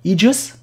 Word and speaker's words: Aegis: Aegis, wird es richtig ausgesprochen.